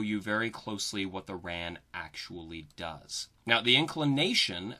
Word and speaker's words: RAAN: at our next orbital parameter which is the ran that's how we usually pronounce it and most people refer to it